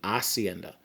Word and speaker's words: hacienda: comes from the word hacienda and then in spanish you don't pronounce the letter h so instead of hacienda it would be hacienda and then a person